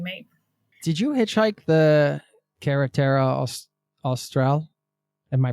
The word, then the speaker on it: Carretera Austral: Did you hitchhike the Carretera Austral? Am I pronouncing that correctly?